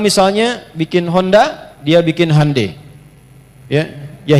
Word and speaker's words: Hyundai: bikin Honda dia bikin hundai ya ya Hyundai saya tahu bahasanya dibacanya hundai ya Apa saja Jepang masuk